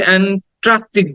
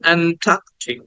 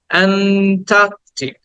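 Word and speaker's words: Antarctic: আমরা করি সেটা হচ্ছে এন্ট্রাক্টিক বলি টি এর পরে একটা আর উচ্চারণ করি কিন্তু এখানে কিন্তু টি এর পরে কোন আর সাউন্ড নাই আমরা বলি অ্যান্টার্কটিক মহাদেশ তাই না অ্যান্টার্কটিক না বলবো অ্যান্টার্কটিক অ্যান্টার্কটিক টা টাকে একটু টেনে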